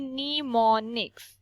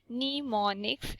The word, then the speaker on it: mnemonics: बेटा ये MNEMONIC लिखा हुआ है, लेकिन इसको जब आप पढ़ेंगे तो इसकी प्रोनाउंसिएशन जो है वो यहाँ से शुरू होगी, निमोनिक्स. Mnemonics.